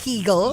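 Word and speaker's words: Kegel: Tama ba ang pronunciation ko doc? Keegle.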